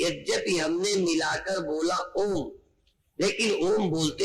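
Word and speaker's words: ॐ: ओम बोलने पर भी यद्यपि हमने मिलाकर बोला ओम, लेकिन ओम बोलते में पहले आओ ओम ओम ओम ओम ओम ओम। थोड़ा ध्यान देंगे तो ओम बोलते में पहले आ, फिर ऊ, फिर मां।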